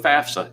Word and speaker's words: FAFSA: all the time f-a-f-s-a if you were to say the word laugh and put s-a at the end that's a laughs same way with fafsa it's a fafsa so you're one-up on